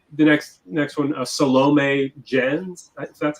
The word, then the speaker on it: Salome Jens: yeah also uh the next next one uh salome jens that's how you say her name is in